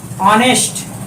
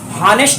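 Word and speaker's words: honest: इसी प्रकार दोस्तों देखिए यहाँ पे यदि आप लिखते हैं ऑनेस्ट या हॉनेस्ट नहीं है, इसको पढ़ने का तरीका क्या है, हम कैसे पढ़ेंगे, इसका ऑनेस्ट पढ़ेंगे। ऑनेस्ट यानी एच साइलेंट है, हम ऑनेस्ट पढ़ रहे हैं।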